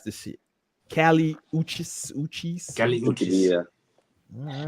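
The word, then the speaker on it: Kali Uchis: Now, how you pronounce this shit? Cali Uchis.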